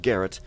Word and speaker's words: Garrett: to eat more carrots carrot rhymes with Garrett and I could probably